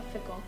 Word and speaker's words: fickle: We talked about mob mentality, a fickle, which rhymes with pickle.